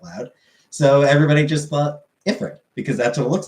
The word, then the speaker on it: Ifrit: when he's being introduced, villain calls him Ifrit. And so they do pronounce it correctly.